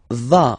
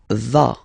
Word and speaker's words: vas: Tu vas. Final S doesn't exist. Tu vas.